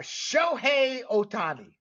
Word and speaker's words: Shohei Ohtani: going to get into some major league baseball sh Otani is that correct there Mr aparicio that is